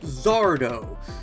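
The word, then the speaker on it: Sardo: For example, Gary always had Zardo. No mister, accent on the dough.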